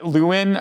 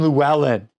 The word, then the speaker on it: Llewellyn: I said something and you were like, that's not how you say his name. It's Desmond Llewellyn. Get it right.